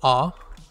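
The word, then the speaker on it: あ: o for this kana if you look there is almost a letter a right here in the beginning or right here in the middle rather so uh if you remember the letter a and the kana it's pronounced ah and this one should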